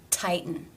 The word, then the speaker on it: tighten: The exception to Rule 2, when it is followed by the schwa and the N sound, as in tighten.